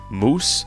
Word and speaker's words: muOS: But thanks to some new friends on the muOS Discord, actually they recently told me after watching one of my videos that it's pronounced moose, so I guess thanks